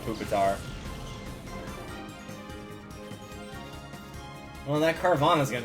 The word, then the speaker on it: Pupitar: and a carvana huh i know it's pronounced pupitar but i'm always gonna call it poopatar well that carvana is